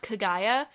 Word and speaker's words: Kagaya: Neither are correct because each A is pronounced exactly the same. Ka, ga, ya.